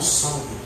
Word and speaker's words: John Sung: Se escreve John Sung, mas é Sung.